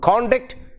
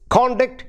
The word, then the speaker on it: conduct: shows your conduct and that word conduct is conduct is stressed on the first syllable now how do you